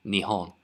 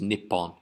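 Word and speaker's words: 日本: This means Japan, Nihon. Sometimes it's pronounced Nippon.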